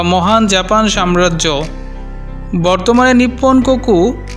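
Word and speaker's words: 日本: জাপানি ভাষায় এই শব্দটির উচ্চারণ নিপ্পন।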